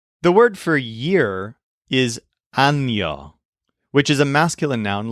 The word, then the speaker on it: año: It's basically A-N-O, but there's a little squiggly mark over the N, which forms the letter that we call ñe. So instead of being pronounced ano, it's pronounced año.